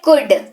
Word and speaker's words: could: सबसे पहली चीज इसका उच्चारण समझ लीजिए, COULD, लेकिन यहाँ पर एल का उच्चारण बोलते वक्त नहीं होगा, लिखते वक्त होगा पर बोलते वक्त नहीं होगा। इसको कुड पढ़ते हैं, कुड पढ़ते हैं।